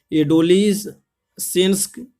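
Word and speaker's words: adolescence: एडोलिसेंस ये आपका गलत है। एडोलिसेंस ये भी आपका गलत है। एडोलिसेंस ये भी आपका गलत है। एडोलिसेंस में आप देखेंगे सी क्या रहता है? साइलेंट रहता है।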